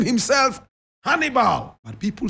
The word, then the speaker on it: Hannibal: Correct pronunciation, Hannibal. Hannibal.